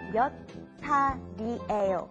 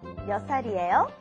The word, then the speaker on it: 몇 살이에요: Remember to pronounce it like this. 몇 살이에요? 몇 살이에요?